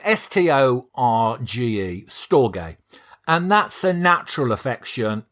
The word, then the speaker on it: storge: to pronounce and there's it's spelt storge storage to me that sounds like a steam pudding but that's probably a whole new episode uh it's storge it's it it's spelt s-t-o-r-g-e storge and that's a natural